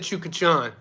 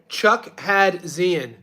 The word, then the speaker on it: Chukhadzian: game yeah chachin well he said chachan it's not chuk chachan chuck had Zen that's how you spell it chuck had Cen